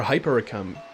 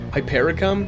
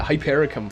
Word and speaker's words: hypericum: The Wanderer there were hyper ium oh God how do you say it again I keep getting thrown off hyper ium oh man hypericum yeah hypericum flowers um she said it